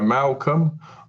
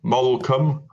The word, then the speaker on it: Malcolm: parts of the UK they say my name differently so they'll go Malcolm Malcom malom uh malom uh you